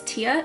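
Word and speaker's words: Tea: Woman in the Green Dress by, I'm gonna say her name is Tia. It's spelled T though, T-E-A.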